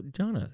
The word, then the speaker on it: Gianna: Yes, it looks like Gianna, but in Italian it's Gianna.